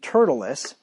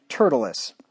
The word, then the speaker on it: Tertullus: with a certain orator named turtleus or tretulis yeah syllables on the emphasis on the second syllable there tertullus who informed the governor